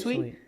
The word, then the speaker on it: suite: Is it sweet or is it sue? How do you say it? What's this? What? What was the spelling? S ui t e. Is it sweet or is it soup? Oh, sweet. Yeah, it is sweet.